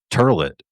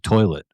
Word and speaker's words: toilet: But they're going to be the last two people that pronounce it turlet instead of toilet.